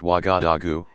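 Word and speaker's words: Ouagadougou: waka Doo goo you Waga dugu pronounced Waga da goo is the capital of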